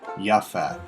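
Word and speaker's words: Japheth: with Noah's Three Sons Shem ham and japeth jath or yath as it's sometimes pronounced The Offspring of these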